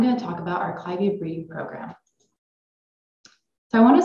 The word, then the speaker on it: Clivia: if the plant name comes from a person's name you keep the pronunciation of that person's name so you will hear me say clivia however there are no absolute rules when it comes to pronouncing Botanical nomenclature so whether you say clivia or clivia both are perfectly fine the genus clavia is